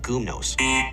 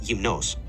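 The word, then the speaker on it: γυμνός: The adjective naked is not pronounced gumnos. Greeks pronounce it like gymnos, and in Attic Greek, it may have sounded like gymnos, but not gumnos.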